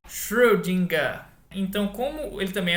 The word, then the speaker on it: Schrödinger: Então o nome dele é Schrödinger. Então, como ele também é alemão, o final é R, assim como Euler se fala como um som de A. Então a gente fala Schrödinger.